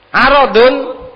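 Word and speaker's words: عَرَض: Aradun artinya harta atau harta benda, aradun. Kalau irdun artinya kehormatan. Jadi jangan salah bacanya.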